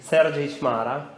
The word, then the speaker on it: Sergiy Chmara: Sergiy Chmara.